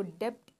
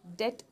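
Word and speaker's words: debt: इसको डेप्ट नहीं प्रोनाउंस करेंगे, बी को थोड़ा सा कम प्रोनाउंस करना है, साइलेंट है ये, डेट प्रोनाउंस करेंगे, ठीक है.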